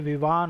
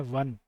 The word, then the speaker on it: Vvaan: ऐसा लगता है पढ़ने में विवान हो ये, बट इसका नाम है वन।